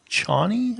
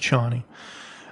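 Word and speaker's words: Chani: out her name is johnny i think i don't remember um c-h-a-n-i i'm not sure um i think it's pronounced johnny uh and she basically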